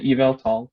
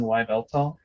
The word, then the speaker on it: Yveltal: personally like them like they're called xerneas and evil tall that's how you pronounce it the anime said so uh when i didn't know any better i always insisted that it was pronounced externius and y beltol i thought it was javeltong that's me personally